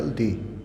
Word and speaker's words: the: Definite article दी, जिसका pronunciation दी और द दोनों होता है।